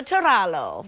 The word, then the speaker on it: Torrallo: slopes is Mary Jo Torrallo, right? I pronounced that right? Very good. Thank you. I even gave you a little tongue roll on that R.